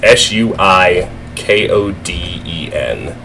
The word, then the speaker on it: Suikoden: Suikoden, I think is the right pronunciation. It's Suikoden.